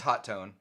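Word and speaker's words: Hotone: say it wrong um is it hot tone it's hot tone it's hot there's only one tea I know I'm aware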